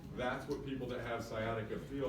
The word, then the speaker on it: sciatica: down the leg s sciatica awesome because nobody pronounced the C in sciatica that's good um if